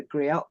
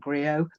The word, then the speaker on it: griot: It's also interesting that you talk about him being a griot and the griot. Let's get the pronunciation right. It's a French word.